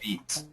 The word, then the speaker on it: beat: Beat. That's right, that's right. So let's just look at the pronunciation difference here. We have bit and beat. And so this is a tough sound for lots of students.